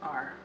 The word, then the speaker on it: are: is we are so this word is r the E is silent and the a is